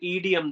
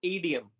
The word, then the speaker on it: idiom: a long sentence, you can use an idiom there. So its right pronunciation is idiom.